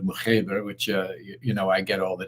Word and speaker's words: Mokhiber: in Francophone areas where they pronounce my name Mokhiber. And then I spent, I grew up in an English-speaking country where they say Mokhiber. And then there's the original pronunciation of Mokhiber, which, I get all the time.